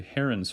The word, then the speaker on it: Heron: is called heroes formula i read it before i heard it so i always say heron's formula but i believe it's pronounced hero's formula then i'd like for